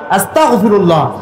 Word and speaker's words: আস্তাগফিরুল্লাহ: আস্তাগফিরুল্লাহ, কাফ হবে না, হবে গইন আস্তাগফিরুল্লাহ।